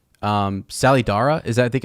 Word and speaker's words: Salidar: But yeah, it's a name that's dropped where which she knows the name, but I mean it's spelled Salliedare, but it sounds like Sally, Sallydara, like if you were Salidara, yeah.